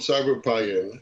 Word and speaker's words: Cyberpion: The company is called Cyberpion, and the pion is comes from chemistry, and